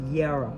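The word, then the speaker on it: Jera: It's pronounced Yara, no J, because they didn't have J's.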